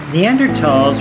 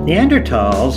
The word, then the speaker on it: Neanderthals: neanderthals neanderthals were humans like us but they were a distinct species called homo neanderthalensis the th is pronounced as ta both fossil and genetic